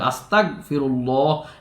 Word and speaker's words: আস্তাগফিরুল্লাহ: হ্যাঁ, হামজা সিন জবর আস, তা গইন জবর তাগু, আস্তাগফিরুল্লাহ, এইভাবে যেন হয়। হ্যাঁ, অবশ্যই যেন আস্তাগফিরুল্লাহ, প্রয়োজনে আপনি আস্তাগফিরুল্লাহই বললেন। হ্যাঁ, গইনের মধ্যে নিয়ম হলো আস্তাগ, মানে উচ্চারণটা ধরে রাখতে হবে। আস্তাগফিরুল্লাহ, এটা হলো শুদ্ধ কথা।